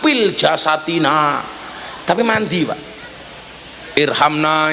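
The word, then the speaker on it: ارحمنا: Irhamna ya arhamarahimin. Orang dulu bacanya irkamna ya arkamarimin.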